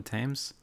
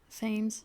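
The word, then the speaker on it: Thames: mean the tames river it's pronounced tames right I think so yeah even though it's the the themes yeah it looks like FES but I think it's just tames or TS T whatever what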